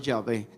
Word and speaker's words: Yahvé: Por eso le agregan algunas vocales, y para algunas versiones suena Jehová y para otras Yahvé. Pero es el mismo nombre de 4 consonantes.